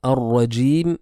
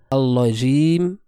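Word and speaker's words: الرجيم: Alors qu'en réalité, il y a un roulement qui doit se faire, un takrar, une répétition de la lettre, mais qui est légère.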